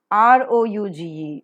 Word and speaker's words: rouge: Normally, Indian pronunciation is prestige. So, just give it a thought, it is prestige. G-A-R-A-G-E, garage, garage. R-O-U-G-E, rouge.